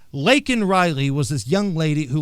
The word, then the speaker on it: Laken Riley: Say her name. Lincoln Riley. No, the young lady's name was Laken Riley, you buffoon.